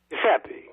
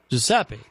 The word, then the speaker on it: Giuseppe: Giuseppe. Giuseppe.